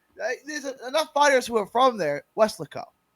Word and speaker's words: Weslaco: in Mexico but and they kept calling it Westlake oh and it was it's it was it was how does it pronounced scare Weslaco thank you and they were saying it like